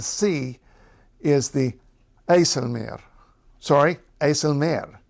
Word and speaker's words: IJsselmeer: is the aelir sorry aelir because second part of a compound word that's the way the stress goes if it's a compound word you stress the second part and of course you'll